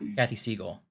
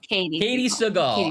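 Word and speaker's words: Katey Sagal: Kathy Siegel. I think. Yeah. Oh, Katie Seagal. Katie Seagal. I was right with half of the letters.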